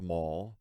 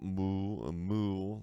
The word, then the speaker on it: Mall: Yes, my last name is pronounced Mall, not Moo, like some people try to pronounce it.